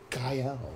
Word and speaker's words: Guile: It's pronounced Guile.